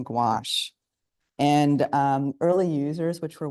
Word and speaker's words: gouache: So it's spelled Gouche, gouache, it's pronounced.